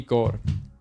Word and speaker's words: Kaur: Her name was Bobby Kaur. Sorry, I said it like that. It's just if you were Punjabi, you would say it like that too. So it is a love story between Bunty and Bobby.